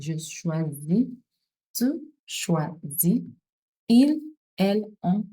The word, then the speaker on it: choisis: Je choisis. Je choisis is Z sound because it's a single S found in between vowels. So it's pronounced as a Z sound. Je choisis.